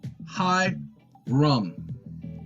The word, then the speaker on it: Hiram: Hyrum out of tire hi rum that's how it is pronounced okay and we have